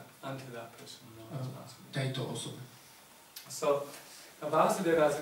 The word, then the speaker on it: Vasudeva: Krishna's father is Vasudeva, with short A.